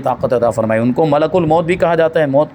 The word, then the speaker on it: ملک الموت: فرماتے کہ ملک الموت، یہ بھی یاد رکھنا، یہ اس کا تلفظ کچھ لوگ ملک الموت بول دیتے ہیں، ملک الموت نہیں، ملک الموت۔ موت کا معنی جانتے ہیں؟